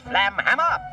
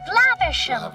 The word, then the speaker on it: Flaversham: Yeah, there's a running joke about Basil mispronouncing the last name Flaversham. Flamhammer. Flaversham. Whatever. Miss Flanchester. Flaversham. Whatever. Miss Flangerhanger. Whatever. Which I guess is cute, except for the fact that he clearly pronounces it correctly later.